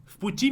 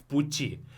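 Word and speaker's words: в пути: Vputi. I don't say vputi. I say vputi, like as if it's an F. Vputi. Why is that? Because the next word starts with a voiceless consonant p.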